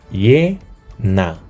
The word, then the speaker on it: llena: En llena, ¿qué tenemos? Ye-na. Ye-na.